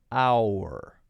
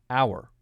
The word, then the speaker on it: our: Our. Our. Our. Our. Exactly the same pronunciation as H-O-U-R. The H is silent.